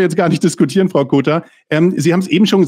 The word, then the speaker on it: Cotar: Ich habe immer Joanna Kotta gesagt, aber tatsächlich die Betonung liegt auf dem O, wenn ich Ihren Namen ausspreche.